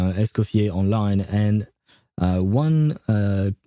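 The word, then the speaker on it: Escoffier: Oh no, her name is Escoier. Okay. Okay. It's not actually Nes Nes coffee. It's a Esopier, which is a kind of a strange word, uh to be fair.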